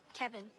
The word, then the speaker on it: Kevin: How do you pronounce it? Say it again. Kevin. Kevin Kine ke like Kev in I think I got it.